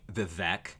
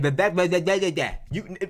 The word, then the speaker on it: Vivek: But see, the fact that you're Indian, or my bad, an Indian supersedes everything else you've done up to this point, Vivek.